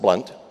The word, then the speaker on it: Blount: she will tell you it's no coincidence her last name is pronounced blunt Tammy has the philosophy